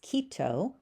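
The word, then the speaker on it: Quito: The next word in the book is Kito and that is the capital city of Ecuador. Again the ui sound is just like a long long e.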